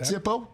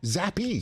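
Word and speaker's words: Zappe: No, not Zippo. Zappy. Zappy. Zappy. That's why I said Come on, Get Zappy. Zappy. You said it wrong.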